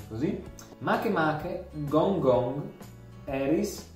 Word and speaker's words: Makemake: penso di pronunci così, Makemake, Gongong, Eris e Sedna. È Makemake e non Makemake perché è un nome di un, cioè un nome hawaiano, ok? Quindi non si pronuncia Makemake ma Makemake.